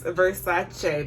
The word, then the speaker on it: Versace: It's Versace because the CE in Italian has the che sound.